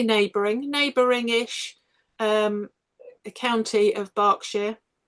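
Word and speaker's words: Berkshire: learn English because it's B E R K but we pronounce it bark bark but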